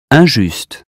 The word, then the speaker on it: injuste: That consonant tells us not to say in or im, but un. Here's how to say them correctly. Repeat them after me. Imbécile, inclination, information, injuste, important, instant, intact.